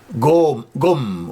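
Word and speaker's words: ϫⲟⲙ: And remember, Gom with a long O is book. Gom with a short O is power. Make sure you know the difference.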